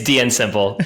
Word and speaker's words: DNSimple: joined by Anthony Eden, founder and CEO of DNSimple. Anthony, welcome. Thanks for having me on. Appreciate it. Or is it DNSimple? or yes, it could be DNSimple. It's true. Oh, which one is it? No, it's DNSimple.